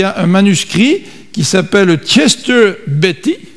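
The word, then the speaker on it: Chester Beatty: un manuscrit qui s'appelle Chester Betty comme ça Robert qu'on prononce Chester Beaty bon 46 il date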